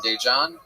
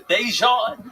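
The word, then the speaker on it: Daegen: His name is spelled D-A-E, which is day. And then it's G-E-N.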